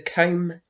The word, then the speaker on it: comb: up we have the comb jelly and that's came with a silent B at the end so despite its name